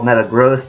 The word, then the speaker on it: Metagross: the way I realized I mispronounced the name it's supposed to be called Metagross but I don't know